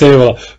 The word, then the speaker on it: Evola: No, you pronounce it well. I know, it's an Italian, Julius Evola.